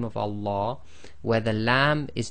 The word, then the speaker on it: Allah: and a fata so always remember the Lamb of Allah is always two lengths long so in conclusion we